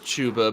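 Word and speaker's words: Chuba: that's just my favorite name and so like Java for Heisman yep I don't care that it's actually pronounced tuba I did yeah like I was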